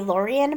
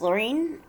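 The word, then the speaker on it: Laurien: lorien baron laurene berenson i keep wanting to say lorien but i believe it's pronounced laureen this is a melanie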